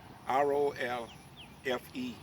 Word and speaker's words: Rolfe: How do you spell it? R-O-L-F-E. Oh, Street. like Rolfe, like Rolfe, John Pocahontas?